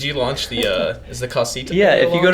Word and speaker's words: Kasita: Spell that. KASITA. Casita, just like that.